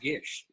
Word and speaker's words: Gish: I might have had some might have had some ice in my mouth, but I think it's pronounced Gish.